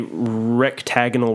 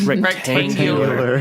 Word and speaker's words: rectangular: It is a rectagonal room. Is that how you say it? Rectangular.